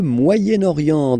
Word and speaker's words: Moyen-Orient: So it's interesting here because normally if you would have only this word here, you would pronounce it moyen, moyen. Okay, but then as you've got this vowel after, okay, you get to make the liaison between the two.